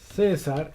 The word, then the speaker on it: César: César, en este caso, des en cuenta que no lo... César es una palabra, en este caso, grave, que tiene acento en la penúltima sílaba.